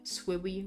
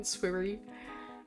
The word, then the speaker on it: Swiri: Hiya, Swiriko? I'm sorry if I pronounced that wrong. Swiri. Swiwi. It's so easy to say that as like Swiwi rather than Swiri. Gosh. Just Swiri is fine.